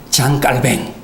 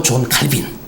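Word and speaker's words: Jean Calvin: 프랑스 출신의 장 깔뱅, 영어식 발음으로 존 칼빈.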